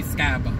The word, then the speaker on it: Skibo: But anybody that's from Fayetteville, we say Skibo, even though it's spelled S-K-I-B-O.